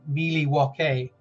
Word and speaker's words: Milwaukee: was Alice Cooper and he said it's actually pronounced Miley walkie and I never forgot that by the way